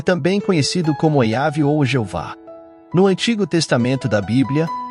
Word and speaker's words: Jeová: as consoantes sem vogais portanto a pronúncia exata do nome é incerta yav e Jeová são tentativas de Reconstruir a pronúncia do nome usando as vogais de outras palavras hebraicas o nome e yhw